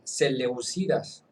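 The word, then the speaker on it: Seléucidas: Entonces, en mano de los plotolomeos y posteriormente de los celeusucidas, es que ya acento en la segunda e celeucidas llegando a mediados del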